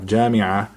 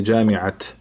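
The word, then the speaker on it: جامعة: Like if I have Jamia, I do not say Jamiat unless if it is connected with another word, let's say, or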